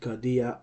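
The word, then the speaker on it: καρδία: Now, the acute accent on the ultima will raise, okay? It will rise the tone of the voice in the pronunciation of the word cardia on this last syllable.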